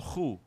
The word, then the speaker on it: Khoi: And being a conventional racist, he had problems from the get-go with the Khoi or the Khu, which is the correct way of pronouncing who these people were.